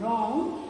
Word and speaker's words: wrong: Here also the word begins with a R sound, wrong.